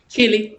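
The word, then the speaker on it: Chile: north america yes yes how do you say chili chili child yes it's exactly the same way we pronounce chili the food okay bitcoins this all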